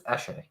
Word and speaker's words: Eshe: It's Eshe, and I also now I know how to pronounce it. It's Eshe, right?